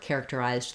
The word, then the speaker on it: characterized: sounds as character um characterized and character have the same Rhythm so first learning character will help you we have first syllable stress so characterized letters a